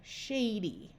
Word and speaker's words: Shady: this word here reply most of the time at the end of a multi-syllable word the Y is the suffix with the long sound of e like in Shady so if you're not